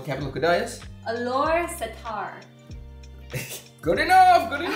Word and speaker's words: Setar: Alostar. No, it's Setar. Okay, Alostar. What? Is that how you say it? Alostar, yeah. But it's like Setar.